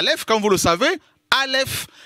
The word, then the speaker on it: aleph: quand vous le savez aleph est une lettre muette comme le h ne en france est d'accord voilà ça ne se prononcent pas c'est une lettre invisible comme le créateur il a tout créé non le voit pas ça c'est la leffe alléluia wahou seigneur vous